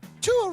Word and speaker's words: Tua: Tua rhymes with Sua.